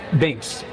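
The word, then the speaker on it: Binx: So, Bynx.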